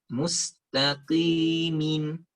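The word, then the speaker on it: مستقيمين: Mustaqimin. Mustaqimin. Jangan ta. Tadi udah kita pelajari ya, ta itu lembut dengan musta, tapi musta. Mustaqimin. Nah, ki itu setengah tebal, min itu tipis sempurna.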